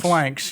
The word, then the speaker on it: Phalanx: You started with the picture of the Greek, I don't even want to try to pronounce it, Phalanx. It's called Phalanx, yeah.